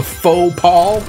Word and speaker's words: faux pas: It's spelled F-A-U-S, but it's pronounced like fa or faux or however.